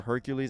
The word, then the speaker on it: Heracles: think next we have heracles or hercules i think it just depends i think this is the greek one so it would be heracles i think it's pronounced but i may be wrong versus jack the ripper